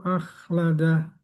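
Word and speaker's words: أخلده: Yahsabu yahsabuabu an yahsabu anna maahu akhladah. Kalla a tipis ko tebal. A tipis ko tebal. Jadi bacanya akh akh bukan akh akh akh salah akhladah harus ditutup mulutnya ditutup ketika ko sukun akhladah yahsabu anna maahu akhladah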